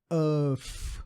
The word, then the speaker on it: of: O F ali vai ter um sonzinho de V.